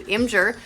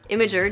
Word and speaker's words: Imgur: number of vulnerabilities he's found and reported to Imgur, or Imgur, depending on how you prefer to pronounce it, the popular image sharing site, over the last year or so.